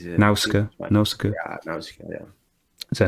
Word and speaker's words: Nausicaa: over the landscape, and actually the person is Nausicaa. I say Nausicaa. How would you pronounce it? Yeah, I think it's Nausicaa.